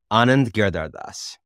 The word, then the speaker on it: Anand Giridharadas: Well, how would you pronounce the name? Go ahead. Anand Giridharadas.